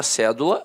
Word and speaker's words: cédula: Aí, a palavra cédula, notoriamente, é uma proparoxítona. A sílaba tônica está na antepenúltima sílaba.